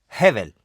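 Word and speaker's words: הֶבֶל: hebrea no es difícil de decir tiene una pronunciación simple es heevel hevel h e técnicamente es la letra b larga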